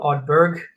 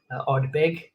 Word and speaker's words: Ardbeg: Just to be clear, there is no R. It's not Ardbeg. Ardbeg, often mispronounced, particularly in South Africa, I find, because of